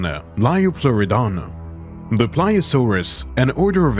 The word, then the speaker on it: Liopleurodon: The name Liopleurodon, pronounce it like Liopleurodon, which derives from Greek and means smooth-sided teeth, was given to it.